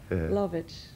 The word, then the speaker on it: Lovich: Well, the second part is Yugoslav. Lovich.